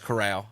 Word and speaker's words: Corral: you want to correct i don't know it's corral that's how you say it bro okay k-u-h